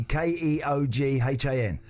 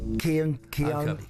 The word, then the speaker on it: Keoghan: And Keoghan, it would be Keoghan. It is correct for a point. How's it pronounced? Keoghan.